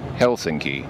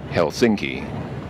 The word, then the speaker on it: Helsinki: almost all finished words put the emphasis on the first syllable so the city's actually pronounced Helsinki not Helsinki so there you go